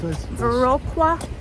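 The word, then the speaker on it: Viroqua: we just got to veroa Wisconsin did I pronounce that right yeah that's veroa and we are parked we found a parking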